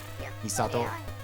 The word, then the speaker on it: Misato: I think you do kind of actually put the emphasis on the ah, don't you? Thinking about it now. When people say her name, they go like, Misato-san. There is sort of an emphasis on the sa.